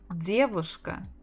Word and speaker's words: девушка: Девушка, девушка. Девушка, девушка, девушка. The stress on the first.